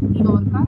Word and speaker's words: Mallorca: There is an island in Spain called Mallorca Island. It's actually in their language or how they pronounce it is Mallorca, and it is beautiful.